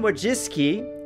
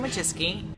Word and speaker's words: Wojcicki: communication with you Susan wajis and just so you know that is how you pronounce her name you can hear it from her my name's Susan wajis she said in January